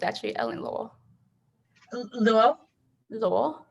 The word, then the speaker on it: Luo: me how to pronounce your last name it's pronounced like law it's actually ellen lowell luo like ellie w like the law oh okay